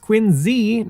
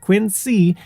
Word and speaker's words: Quincy: As for Quinsey, which yes, is pronounced Quinzy, not Quinsey, the city is home